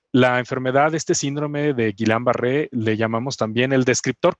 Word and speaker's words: Guillain-Barré: Nos va a platicar qué es el síndrome, que a ver si lo pronuncio bien, Erwin. Guillain-Barré. Guillain-Barré.